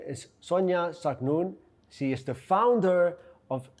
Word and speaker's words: Zaknoune: today a special guest her name is Sonia sagnun she is the founder of Casa consultancy Sonja